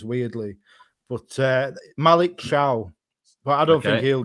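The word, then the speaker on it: Thiaw: But uh right, first point, it's pronounced ciao. I know it's a t, but it's pronounced ciao. Malik chia. I don't know why some people just pronounce the names weirdly, but uh Malik Shiao, but I don't think he'll get many minutes.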